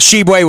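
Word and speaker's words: Tshiebwe: Shibwe, the kid, Shibwe, I think that's how you pronounce it. Yeah, Shibwe from West Virginia, tell me, yes. Angelo, how do you pronounce his name? That Shibwe was correct.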